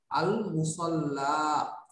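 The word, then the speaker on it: المصلى: আচ্ছা আল মুসাল্লা এই যে শব্দটা, এই শব্দটা মূলত আমি উচ্চারণ করছি কিভাবে, যদিও ইয়া আছে কিন্তু আমি কিন্তু করছি হলো আল মুসাল্লা, শেষে আলিফ আছে, হ্যাঁ যেহেতু শেষে আলিফ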